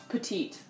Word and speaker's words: petite: Ok, donc premier mot c'est petite, mais en anglais ça se prononce petite.